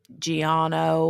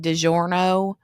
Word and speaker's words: Giorno: that was like belladonna Giorno or Giorno or something. And every time he said it wrong and kept saying DiGiorno.